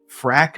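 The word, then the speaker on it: Phrack: in an e-magazine called frack magazine p-h-r-a-c-k right because we have to spell it that way really really fun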